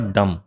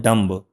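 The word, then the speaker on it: dumb: इसको पढ़ेंगे आप डम। क्या पढ़ेंगे? डम। क्योंकि हम लोग इसको बोलते हैं डंब।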